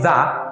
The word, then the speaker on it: the: যদি এই আর্টিকেলটির পরে এমন কোনো শব্দ আসে যেই শব্দটি শুরু হয়েছে ভাওয়েল দিয়ে, তাহলে এই আর্টিকেলটির উচ্চারণ হবে ভি। যেরকম দি ওল্ড ম্যান is sitting.